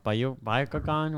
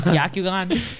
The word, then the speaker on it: Byakugan: The Byakugan, whatever, or the Sharingan?